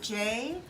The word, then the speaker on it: jicama: it's spelled Jicama, Okay. but the J is pronounced like an H, so Okay.